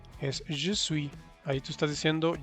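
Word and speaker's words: j'ai: de algunos diptongos que en francés AI se pronuncia como E, una E abierta. Entonces ahí es je, abierto.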